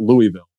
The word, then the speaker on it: Louisville: to wrestling school in Louisville, Kentucky, of all places, and it's not Louisville, they pronounce it Louisville for all my locals there, Louisville, Kentucky.